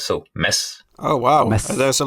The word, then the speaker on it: Mads: So Mads is completely wrong. Mads. It's mess. Oh, really? Mess. Wow. Yep. Like if you've done a mess.